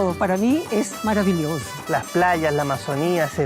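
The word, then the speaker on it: maravilhoso: Una palabra para mí es maravilloso, porque castellano se dice maravilloso, pero en portugués maravilloso a mí me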